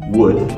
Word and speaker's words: would: W-O-O-D, wood, or W-O-U-L-D, wood. They have the same pronunciation. They're actually the same. And many students. Exactly the same. Exactly the same. There's no difference.